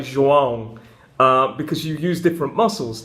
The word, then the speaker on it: João: But the ão noise was really difficult for me, so I needed to practice. Eventually now, instead of saying João, I say João.